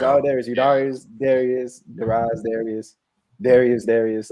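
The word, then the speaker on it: Eudarius: But it's spelled EU and then Darius, but it's pronounced Udarius.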